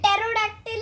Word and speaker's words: Pterodactyl: P silent. P is silent. Pterodactyl and Pteranodon.